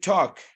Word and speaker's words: talk: We should remember the L is silent. We should talk about that in the next meeting. Repeat after me, please. We should talk.